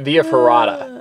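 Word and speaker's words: via ferrata: foret VIA foretta viering I think here they pronounce it via fada oh know exactly what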